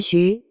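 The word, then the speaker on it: 血: 在玉骨遥里配音是徐。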